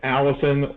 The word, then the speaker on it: allicin: We call it Garcillin, but technically it's allicin or acillin. I don't know the correct pronunciation of it.